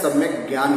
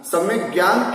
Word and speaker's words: सम्यग्ज्ञान: तो मैं आपको बताना चाहूं कि दर्शन और ज्ञान के साथ तो ग आता है, ग गाय वाला ग, सम्यक दर्शन, सम्यक ज्ञान।